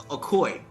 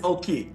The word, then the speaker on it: Oki: It's AAKOY. Are you saying it in Blackfeet? Yes. Oh, thanks for looking that up. It's actually just like it sounds. OH-KEE. So it is OH-KEE.